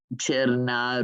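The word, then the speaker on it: Černá: Cherna Rouge. Cherna means black, and you spell it Cerna, and Rouge is rose.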